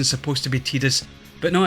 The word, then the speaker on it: Tidus: tirus or tidal so much prefer calling them titus i know the actual pronunciation is supposed to be tedious but no it's titus for me and i'll